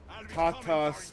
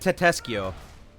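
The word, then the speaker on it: Tatasciore: Tatas guy.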